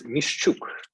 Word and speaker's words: Mishchuk: The last name pronunciation is Mishchuk, Mishchuk, but never mind.